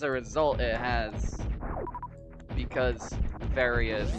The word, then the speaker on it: Varia: It has ended up creating the the accidental fandom war of how do you pronounce is it varia or is it varia? Obviously correct answer is is varia but I say varia